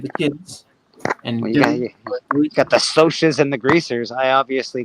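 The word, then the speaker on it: Socs: that book called them I call them the socks the I like oh the socks apparently it's pronounced soas yes apparently it's although I I would have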